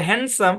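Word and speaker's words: handsome: বলি হ্যান্ডসাম তাই না এই যে শব্দটা হ্যান্ডসাম এখানে ডি টা সাইলেন্ট দেখেন একই বানান কিন্তু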